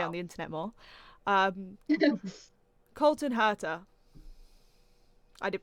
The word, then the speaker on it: Colton Herta: need to stay on the internet more um colton herta i did pronounce that right right yeah yeah that's that's